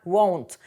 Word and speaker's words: won't: скорочено won будьте уважні скорочення читається як Won't не плутати з want наприклад I Will Not